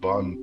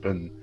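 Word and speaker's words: Bön: And then you have Vajrayana, which basically added Bon practices, actually I think it's pronounced Ben, so Ben practices from Tibet and yoga from India, and that's Vajrayana.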